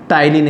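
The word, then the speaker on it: ptyalin: ठीक है, और दूसरा मेरा होता है सलाइवरी एमाइलेज एंजाइम या टाइलिन एंजाइम। इसमें दोस्तों पी साइलेंट होता है।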